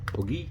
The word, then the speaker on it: Hygge: Okay, so that's how I light my Outbacker Hygge, Hygge, H-Y-G-G-E, I think it's pronounced.